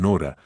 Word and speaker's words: Nora: diferente eleanora aunque cariñosamente la llamaban Nora con énfasis en la primera sílaba continuaron viviendo en la